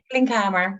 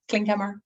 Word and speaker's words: Klinkhamer: How do you say, is it Klinkhamer? Klinkhamer, yeah, Klinkhamer, yeah.